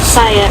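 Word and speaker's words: Saia: Saya is how you say it.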